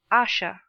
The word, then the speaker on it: Asher: Please pronounce Asha.